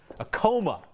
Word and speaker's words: Acoma: Acoma is how people say it in Denver. Don't at me. We just tell you what the popular common Denver pronunciation is.